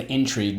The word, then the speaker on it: intrigue: the the spelling for intrigue because of its roots you'll understand when i mention french spanish or italian the i in the second syllable we'll say will be the e sound intrigue let's go in trig